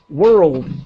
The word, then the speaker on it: world: And just quickly, the word world has a strange pronunciation. The word begins, and please tell me if this helps you, but we have the word girl in English, a little girl. And so world, girl, world, it has a similar sound.